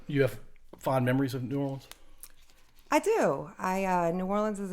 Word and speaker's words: New Orleans: Now, is that the proper way to say New Orleans? It is. It's not Nolans? It is not New Orleans. All right, so New Orleans. It is New Orleans, yep.